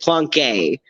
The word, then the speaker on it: Plonk: Like his character, because it's Niles Plonk, but you're supposed to pronounce it Plonke. Because it classes it up a bit.